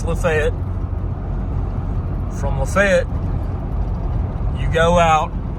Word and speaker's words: LaFayette: and yes it's pronounced lefet if you're local anywhere else in the country it'd be pronounced Lafayette but here in Georgia it's lefet from leet you go